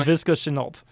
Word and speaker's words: Laviska Shenault: They have this other kid, and correct me if I say his name wrong, Laviska Shenault. Shenault, you got right. I think that's how you say his name. Laviska Shenault.